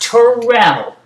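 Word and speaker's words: Terrell: Owens that's how his name is pronounced it's pronounced Terell tur emphasis on the ra Turell Owens if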